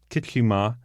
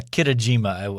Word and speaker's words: Kitajima: 2008, Japanese swimmer Kusuke Kichima. How'd I do? I mean, Kitajima? Yeah, Kitajima.